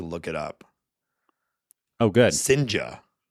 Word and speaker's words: Cijntje: Sinja. Sinja. If you're curious, it is spelledCijntje.